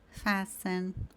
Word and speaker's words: fasten: Então palavras como listen, castle, fasten, whistle. Aqui a gente tá ignorando completamente a presença do T.